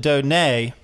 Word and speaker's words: Donat: made a graphic so this is how we spell your name yet we pronounce it Donei right the T is silent and so I was